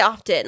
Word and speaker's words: often: or often often say often babe I say often like of f t i n is how